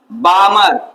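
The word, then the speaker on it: Balmer: वो क्या दिया गया बामर बी ए एल एम ई आर बामर series क्या नाम दिया गया बामर सीरीज ठीक है एल यहां बाहु साइलेंट रहता है ठीक है क्या नाम है इसका बामर सीरीज ठीक है जो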